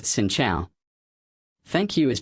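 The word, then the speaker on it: Xin chào: To say hello it's pronounced Xin Chao.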